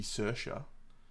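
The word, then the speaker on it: Saoirse: it's done the um surely the worst one's got to be cersa which is spelled sa reice imagine that one naeve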